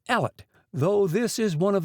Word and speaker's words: Elliot: hellwood hot allet Elliot it is remarkable that in many districts in the south of Scotland the name is still pronounced Ellet though this is one